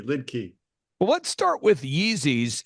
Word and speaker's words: Liedtke: You just, if you're in Germany, you say it Liedtke. If you're American like we are, it's Liedtke. Just a lid and a key, Liedtke.